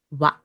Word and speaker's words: は: it is used as a particle it's actually pronounced as what it's a bit strange I know but that's